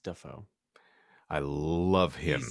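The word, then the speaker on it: Dafoe: It's actually pronounced Duffo.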